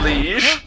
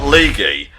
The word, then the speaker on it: liege: Do you seek a liege? Not leaguey.